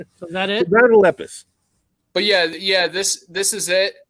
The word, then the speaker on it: Lepus: I always said lupus, and I might be incorrect saying it wrong, or I might have an alternative memory of how it. I remember it being, it was Night of the Lepus. You would be correct. Lepus? Lepus, yeah.